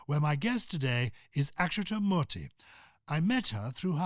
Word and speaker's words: Akshata Murty: Akshata Murty. Is that correctly pronounced?